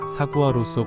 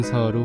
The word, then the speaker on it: saguaro: 이상을 사는 애리조나 선인장을 많은 사람들이 사구아로서 고로로 읽는 경우가 많습니다 철자로 사구아로 읽으면 맞는 거 같지만 정확히는 사화로 혹은 서로로 발음해야 맞습니다 사화로 선인장은 소호란 사막